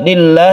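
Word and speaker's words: لِلّٰهِ: Wajhiya lillah, lillah ini lafaz Allah yang sebelumnya kasrah, kita baca tarqiq atau tipis.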